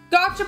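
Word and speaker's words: gacha: Gotcha Pong machine. Gotcha. Gotcha. A gotcha machine. Don't tell me I've been calling it the wrong thing. Well, they spell it G-A-C-H-A, but like this one's gotcha.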